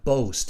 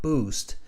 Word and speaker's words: boast: So there's one place which my town can boast. It's not boost, it's boast, the pronunciation of that word, boast. It's not a B-O-O, it's a B-O-A, boast.